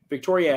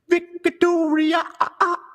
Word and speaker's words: Victoria: Victoria has 4 syllables if you say it right.